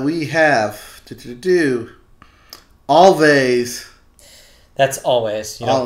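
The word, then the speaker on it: Alvvays: That's always. You don't Always. pronounce the V's. Always. Always. Always. Read the V's like a W.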